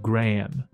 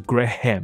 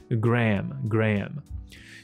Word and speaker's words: Graham: 事实上就是 Graham，而不是 Graham，没有很清楚的 ham 的音，没有的。OK， Graham，所以他的名字就是 Aubrey Drake Graham。